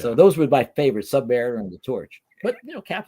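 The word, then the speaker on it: Sub-Mariner: I was always the Submariner. I of course I pronounced it Submariner. I didn't know until I was 20 something that it was Submariner.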